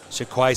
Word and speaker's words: Shaquay: So the reason I know about the pronunciation is because the Rabbitohs put out an audio tape of the boys saying their names, and it is Shaquay Mitchell and Blake Taff, like I said.